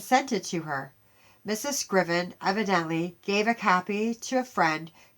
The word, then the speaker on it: Scriven: This is another that was wrote in 1855 by a Joseph Scriven, I think is how you pronounce it. It's Scriven.